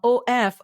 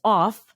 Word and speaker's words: of: a second language speaker So when you say the word o f right it's uh o f in India you would pronounce this as off and America it will be pronounced as of right uh uh and V sound so when you transcribed